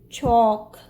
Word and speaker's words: chalk: But here AL is followed by K, so it will be pronounced like O, as in walk, chalk, talk.